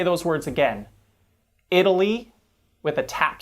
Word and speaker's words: Italy: in italy is not stressed because the first syllable is stressed in italy let me say those words again italy with a tap sound because it's unstressed whereas